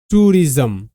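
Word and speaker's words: tourism: next শব্দ আমরা দেখবো টুরিজম দেখো টি ও ইউটু আর I ring R আই এস এম রিজম কেন হচ্ছে প্যাটারন দেখো টি ও ইউটু হচ্ছে ও ইউ রস হিসেবে উচ্চারিত এটা পেয়ার সাউন্ড পরে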